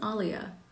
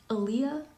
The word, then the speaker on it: Alia: So you've been pronouncing Alia wrong? Oh, her name is Alia. How did you think it was pronounced? Aaliyah? Like the singer, Aaliyah?